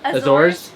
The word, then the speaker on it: Azores: Azores? Yep. Put Azores, the Azores. emphasis on the second.